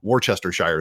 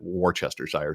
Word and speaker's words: Worcestershire: would chronically annoy by calling worcestershire sauce or what they would call worcester sauce worchestershire sauce and i tried to teach every kid at the summer camp i went to to pronounce it worcestershire sauce and that was that